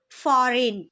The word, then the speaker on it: foreign: The letter G is often silent when it comes before N at the beginning or end of a word. For example, foreign or sign.